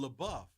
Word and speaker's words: LaBeouf: They're like, "Oh, LaBeouf."